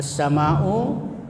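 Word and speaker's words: السماء: Cara membacanya yaitu dengan mengidghamkan atau mentasdidkan pada huruf samsiah sehingga al tidak terbaca lagi meskipun tulisannya ada. Jadi bacanya itu as-sama. Jadi lamnya tidak dibaca, cuma huruf sesudah lam itu ditasdid.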